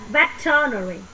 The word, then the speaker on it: veterinary: Bỏ qua cái từ E này mà veterinary.